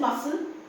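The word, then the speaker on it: muscle: हो फैसनेट that is मसल again C is silent in this word बोलते हैं सी की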